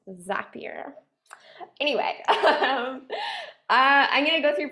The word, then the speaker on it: Zapier: I was pronouncing it Zapier for a really long time, but I think they said it rhymes with happier, so I think it's Zapier.